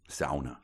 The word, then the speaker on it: sauna: much this in a sauna of course though sauna please that's how they pronounce it um all right so